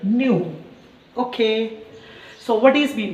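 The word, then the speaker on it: ν: So frequency symbol is nothing but the somewhat we are writing in the form of V letter, but exactly we have to be pronounced by using the meaning is nothing but nu.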